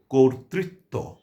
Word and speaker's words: কর্তৃত্ব: কাজেই আমরা উচ্চারণ করব কর্তৃত্ব। কোন অবস্থাতেই কর্তৃত্ব বলবো না। তাহলে এটি ভুল উচ্চারণ হবে। আমরা বলব কর্তৃত্ব। তাহলে সঠিক এবং প্রমিত উচ্চারণ হবে।